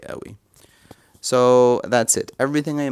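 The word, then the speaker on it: قوي: Because, for example, the letter that I'm showing you here, qaf, we pronounce it a, not qa. So we would say awi, right? Even if it's supposed to be qawi.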